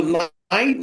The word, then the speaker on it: knight: हालांकि नाइट का English spelling KNIGHT होता है, लेकिन नाइट को हम के नहीं बोलते हैं, नाइट को हम सिर्फ सॉरी N बोलते हैं शॉर्ट में।